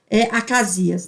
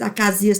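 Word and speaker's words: Acazias: velho aqui se chamava Acasias, né? Ou Ocosias, igual está aqui. Mas Acasias também, a pronúncia está certa.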